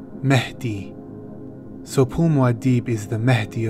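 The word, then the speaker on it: Mahdi: based on their legend the arabic way to pronounce this is mehdi mehdi so pumwadhib is the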